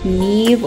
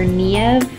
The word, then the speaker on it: Niamh: Again, it's actually an Irish name. It can be pronounced Niamh or Niamh.